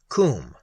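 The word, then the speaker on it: Koom: Coombe, pronounced like the Welsh coombe, denotes something of hollowness.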